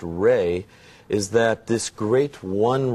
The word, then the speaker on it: Ra: we could start with the raw the the source of all life being the Sun this idea actually pronounced ray is that this great